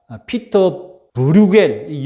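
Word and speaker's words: Pieter Bruegel: 아니라 1599년에 네덜란드의 화가 피터 브루겔이 영어식 발음이고 네덜란드 발음으로 하면 피터르 브루 whole 그림의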